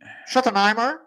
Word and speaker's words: Schottenheimer: On a été chercher, bon, je vais faire attention avec ma prononciation, Brian Schottenheimer. Oh, c'est bien dit. Schottenheimer.